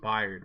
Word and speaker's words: Byard: What kind of pronunciation of Byard is that, Kirk Herbstreit? Byard, what the fuck? It's Byard, bro. Get it right.